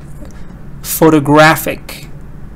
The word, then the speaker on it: photographic: the whole life okay notice that if we add the ending I see to avoid the stress goes on the syllable before I see for example we say photographer stresses on talk if I add photographic it goes right before it goes right before ich yes so photography but now